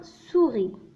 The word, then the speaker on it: souris: souris. souris. le S هنا لا ينطق. donc الكلمة souris.